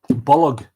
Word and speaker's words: Bolg: Bolg is a two-syllable word. It is related to the word bulge in English.